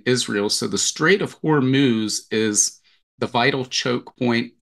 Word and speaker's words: Hormuz: Hormuz.